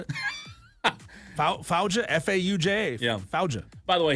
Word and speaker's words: Fauja: Fauja Singh. Probably how I would have said it. Fauja, F-A-U-J-A.